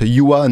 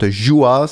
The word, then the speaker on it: Juha: about Finnish is that your first name is pronounced Juha, not Juha, so that's basically the only thing I know, so I need to work on that.